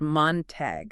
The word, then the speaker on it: Montague: It's pronounced Montague County.